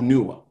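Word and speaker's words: Onughao: was o n u g h a o newa o n u g h a o newa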